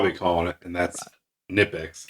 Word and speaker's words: Knipex: people like, no, it's Knipex. The K is silent. Well, I can tell you what I'll be calling it, and that's Knipex. Knipex, right?